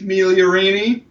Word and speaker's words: Migliorini: Thank you very much to Keith Migliorini.